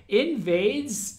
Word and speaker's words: NVDES: It's spelled again NVDES. So literally invades, but without all of the vowels, including the I at the beginning, but leaving the ES at the end.